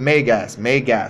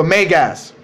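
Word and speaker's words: μέγας: Okay, pronounce it megas. Okay, so megas. Correct pronunciation.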